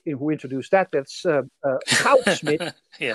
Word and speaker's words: Goudsmit: And so it, I can with great authority pronounce the names of the two people in, who introduced that. That's Goudsmit, yeah. Goudsmit and Uhlenbeck.